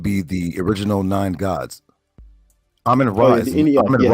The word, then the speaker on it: Amen Ra: Amen ra not ramen ra is not mentioned in the anid nor is he mentioned in the agode.